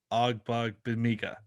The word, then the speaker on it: Ogbongbemiga: Great player, not a great name to try to pronounce. Ogbug Bamiga. Ogbug Bamiga.